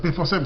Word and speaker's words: Pforzheim: Il m'écrit de l'Allemagne, dans la ville de Pforzheim, la même ville que je n'ai pas su la fois d'ailleurs, c'est Pforzheim, ça s'écrit P-F-O-R-H-E-I-M.